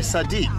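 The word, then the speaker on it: صديق: you say that sadie yeah you are my sadiq sometimes only sometimes sometimes all the time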